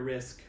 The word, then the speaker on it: Rizk: What's really interesting is that Arthur Rizk, that's how you pronounce his name, R-I-Z-K, who produced and did some stuff with Code Orange, Creator, and Power Trip, had mastered this.